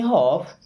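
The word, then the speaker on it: half: okay so give me हफ give मीस दो मी मीस मुझे हफ यहां पर भी एल साइलेंट होता है ना गिव मी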